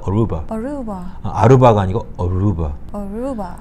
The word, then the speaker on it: Aruba: 그래서 여기서도 역시 아루바가 아니고 Aruba. 들어서 아시겠지만 루바라는 단어의 액센트는 Aru, R-U 거기에 있기 때문에 Aruba 이렇게 표현한 거예요.